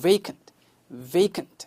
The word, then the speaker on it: vacant: V 발음, V 써가지고 vacant 하시면은 정확해요.